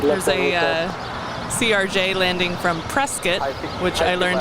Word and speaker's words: Prescott: There's a CRJ landing from Prescott, which I learned how to say this week from you.